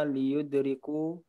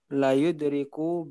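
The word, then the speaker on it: لَيُدْرِكُ: Berarti innal mu'mina liyudriku bihusni La. khalqihi. Dia bukan li tapi la, Mas. La muzakhlaqah itu dibacanya la. Makanya innal insana la. Oh iya. Fi khusrin. Oh, nah, innal mu'mina la yudriku bihusni khalqihi darajatis shaimil qaimi.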